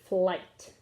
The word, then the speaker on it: flight: guys might remember that when i g h are together like night and sight and tight the gh is silent and it just says i so this word is full i t flight okay over here our